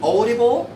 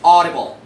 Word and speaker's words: audible: Don't say audible. No wavy. It's flat. It's straight. This is audible.